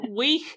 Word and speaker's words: wee: a Scottish word which when I read it I as an Aussie pronounced at wi but it's we so it's got a really good guttal at the end of it and it's